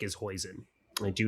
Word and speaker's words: hoisin: Hoisin rhymes with poison, so that means I don't like it.